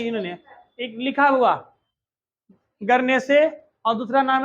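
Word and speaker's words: Guernsey: एक का नाम है गरनेसे, दूसरा का नाम है जर्से।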